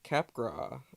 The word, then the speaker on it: Capgras: also a term called the Capgras delusion does gotta have that silent s in there this is a psychiatric